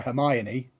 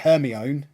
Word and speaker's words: Hermione: The amount of times you see, like the first Harry Potter movie I saw, fascinated that they called her Hermione, not Hermione. That's how it's spelled.